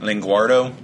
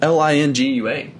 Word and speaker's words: Lingua: Oh, don't spell it, you dick. I don't know. Linguardo? It's Lingua.